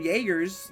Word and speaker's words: Jaeger: No, Asa, it's actually pronounced Jaeger with a J.